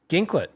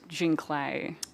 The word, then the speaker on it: Ginklet: I've I've had people think it's pronounced Jin Clay, but not that it's actually my name.